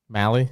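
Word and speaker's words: Mahle: Jeffrey Springs and Tyler Mau. Is that how you say it? Mi, I don't know. Tyler Mali. Mali. Yeah, there it is.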